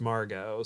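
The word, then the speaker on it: Margaux: acquaintance from high school who her name is Margo but it's spelled m-a-r-g-a-u-e-x but it's pronounced Margo so I'm that's what I how I'm assuming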